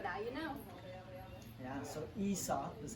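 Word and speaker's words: Aesop: that we actually pronounced ESOP so the a is actually silent which is a little bit tricky but now you know yeah so ESOP is how said and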